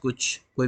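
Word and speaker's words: χ: को रिप्रेजेंट करते हैं काई से। ये काई होता है, इसको जनरली टीचर्स एक्स बोलते हैं नॉर्मल, बट इसको सही प्रोनाउंसिएशन जो है वो काई होता है, ये काई होता है।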